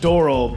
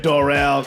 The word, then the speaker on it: Doral: I think I think they're pronounced doral, but I like saying Dorel cuz it made them sound fancier.